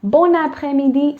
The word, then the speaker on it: bon après-midi: So quickly explaining it, when there's a consonant followed by a vowel, in this case, N is the consonant, followed by a vowel, which is A, okay?